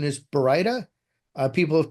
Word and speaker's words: baryta: So the correct pronunciation is baryta.